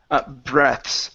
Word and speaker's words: breaths: Breaths. No, breaths is different. You're going to pronounce the TH.